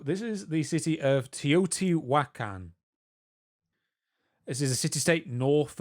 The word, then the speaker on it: Teotihuacan: So this is the city of Teotihuacan.